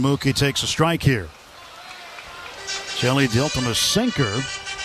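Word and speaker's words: Hjelle: Jelly Delta sinker. Jelly's name spelled H J E L L E pronounced just like Jelly.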